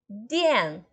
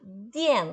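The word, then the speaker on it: 电: Dien, com D de dado. Dien, quarto tom. Dien, eletricidade, tá? Eletricidade. Dien, com D de dado, D-I-A-N, quarto tom.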